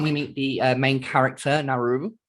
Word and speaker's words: Naru: But moving quickly on, we meet the main character, Naru, or I think that's how it's pronounced, Naru.